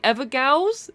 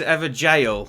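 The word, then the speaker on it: Evergaol: say it wrong the ever gals is that how you say it I think it's is ever jail I think it's pronounced jail it's like an old school way of spelling jail but you've got those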